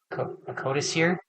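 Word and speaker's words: Codicier: So he does end up he does recruit Tylos Rubio who's a I don't know how to pronounce Kadesier. Cotisier. C O D I C I R. Cadis. Yeah. Cadis.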